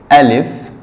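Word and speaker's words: ا: Alif. Le alif, c'est ce trait vertical, ok, et le nom seulement est alif, mais la prononciation c'est a, ok, a comme le mot âme en français, l'âme, a.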